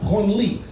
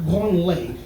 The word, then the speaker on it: Branly: It's pronounced Branly, not Branley. If you pronounce it Branley, it becomes the museum for touching yourself.